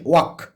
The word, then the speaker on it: walk: যেমন এরকম ওয়ার্ড আমরা জানি ওয়াক, WALK, এলের কিন্তু উচ্চারণ হয় না, বা শুট, SHOULD, শুট।